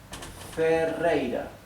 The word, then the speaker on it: Ferreira: okay these are inferred and my last name is doubled therefore it is pronounced Ray this last R is not doubled and is in the middle of the word therefore it is pronounced right a soft sound so this is